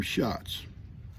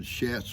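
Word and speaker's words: Shatz: for work all right she pronounced her last name shots I'm sorry I said shats or whatever s ha TZ it's shots pronounced shots it's shots beautiful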